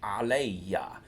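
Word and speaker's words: عليّ: When you have ala and then the e for me, it changes the alif maksura to a regular ya and doubles it. So this is pronounced aleya, and you'll hear this one a lot.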